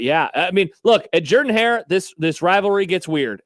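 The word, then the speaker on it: Jordan-Hare: By the way, kudos to Josh for pronouncing it Jordan hair even though it looks like Jordan hair.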